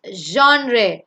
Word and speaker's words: genre: It's genre, genre, genre, which means a style or a category of music or art or any form.